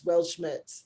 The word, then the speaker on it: Weltschmerz: Weltschmerz.